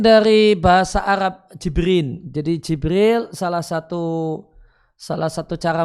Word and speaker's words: Jibril: Bagaimana kalimatnya mungkin dari bahasa Arab jibrin jadi Jibril salah satu Salah satu cara bacanya jibrin kemudian dilidah uang Eropa jadi Gibran besarnya di